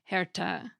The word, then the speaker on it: herte: And many letters still had an E on the end that was pronounced too, so heart was spelled Herte and was pronounced something like Herta.